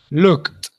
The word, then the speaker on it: looked: Looked, the I doesn't sound.